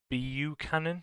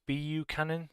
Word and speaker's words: Buchanan: It's actually Buchanan. I think it's Buchanan. I'll bring the comment up on the screen now. Buchanan, I think it is. So I know how to pronounce his name now.